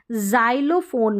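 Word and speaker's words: xylophone: के में एक्स का उच्चारण जाइलोफोन में ज ज उच्चारण रह रहा है जाइलोफोन में एक्स का इसमें एक्स तो उच्चारण नहीं हो रहा है जाइलोफोन अलग उच्चारण रह रहा है यानी कि एक्स का उच्चारण ज और यहां पर बॉक्स में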